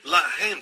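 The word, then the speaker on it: לָחַם: Mesma escrita, a única diferença é a pontuação. Eles colocam os pontos em diferentes lugares. Um é Lehem, o outro é Lahem.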